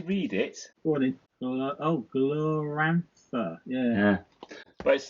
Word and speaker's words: Glorantha: It's Glorantha. Glorantha. I always call it Gloranthiana for some reason.